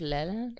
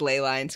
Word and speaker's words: ley lines: Sir, is it pronounced Leland? Leland. Why are you pronouncing it? No, I think it's just ley lines.